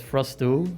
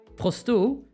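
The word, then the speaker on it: Frosteau: An anonymous tip was made to Detective Frosto, like Clouseau, but I guess Frosto, and O is spelled E-A-U, like water, from the cyber police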